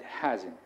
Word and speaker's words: hasn't: I hear a lot of people say hasn't and haven't. It's wrong to say hasn't or haven't. It's haven't and hasn't. The stress is on the first syllable.